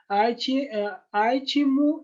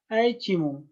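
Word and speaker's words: Iachimo: An Italian named Aichimio, Aichimo, this is dear students pronunciation. Both you can pronounce Aichimu and Aichimu.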